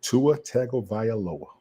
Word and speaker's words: Tua Tagovailoa: Do you think they paid Tula, and I can't pronounce his last name? Tua Tagovailoa.